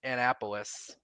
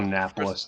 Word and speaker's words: Annapolis: crap show back in Annapolis. Yeah. Yeah. It's called Annapolis, not Annapolis. If I hear that incorrect pronunciation one more time, I'm going to slap you.